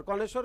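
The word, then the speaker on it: connoisseur: मेंडीकेंट बहुत सुंदर चलो और आगे कोनेश्वर कोनेश्वर का स्पेलिंग गलत लिख रहे हैं शायद।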